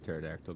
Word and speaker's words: pterodactyl: Why can't you hear the pterodactyl going to the bathroom? What's that? What's that? Because the P is silent.